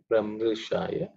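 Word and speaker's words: प्रमृशाय: Those are the two we have to, and Pramru, Pramrushaya. It's a Rikara comes, okay. Otherwise, the pronunciation is reasonably simple.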